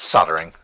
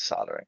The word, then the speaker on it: soldering: You're just not supposed to pronounce the L for some reason. I guess. I don't know. Yeah, it's soldering.